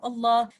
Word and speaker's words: Allah: glorious name of Allah, there are two lams in writing, but one lam in pronunciation. And if there is a fatha or dhamma before the name of Allah, we recite this lam heavy with tafkhim, and we can see in these examples.